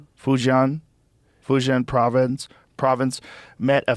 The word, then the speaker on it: Fujian: Fujian. Fujian.